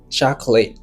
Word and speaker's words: chocolate: En anglais mot ça il y a prononcé comme chocolate. Chocolate. ? Cho co late. Chocolate. Ça veut dire mot ça il y a gagné deux syllabes là-dedans.